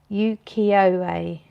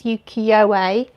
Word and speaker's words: Ukiyo-e: Ukiyo-e. Tracy says, I don't know you, but don't pronounce the Y, so ooh.